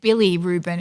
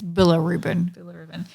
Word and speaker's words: bilirubin: pronunciation okay Ruben yeah I said Billy Ruben it's bilirubin okay so what's my definition